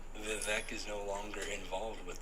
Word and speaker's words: Vivek: and he was like, my name is Vivek, rhymes with cake.